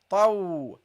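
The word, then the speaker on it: ط: Okay, the ta, you pronounce it as taw. This is also a heavy letter.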